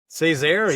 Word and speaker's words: Césaire: It'll be also interesting to see if defensive line coach Jacques Césaire, am I pronouncing that right, Steve? Césaire, yeah. Césaire, there we go.